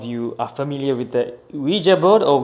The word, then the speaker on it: Ouija: came here is in fact visa so it's pronounced huija so it's oh you I J a so I'm sure some of you are familiar with the Ouija board or Ouija board you can invoke spirits and all of